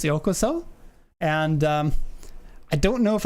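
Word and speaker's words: ようこそ: So I sent him an email with the, like, how to pronounce yokoso. And I don't know if I sounded like a bit of a dick. Like, actually, it's pronounced yokoso instead of yokoso, which is how he said it.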